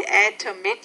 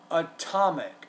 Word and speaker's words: atomic: verified down to the atomic level. And that word would be atomic. Atomic. Stress on the second syllable.